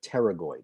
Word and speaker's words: pterygoid: what internal and external pterygoid muscles paragoid is spelt with a silent p p t e r y g o i d so temporalis internal pterygoid